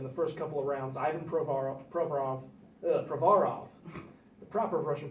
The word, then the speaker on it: Provorov: And now this year, it just basically every pick that Ron Hextall has made in the first couple of rounds, Ivan Provorov, the proper Russian pronunciation, and Travis Konechny, both in the first round this year, and people are just lauding them.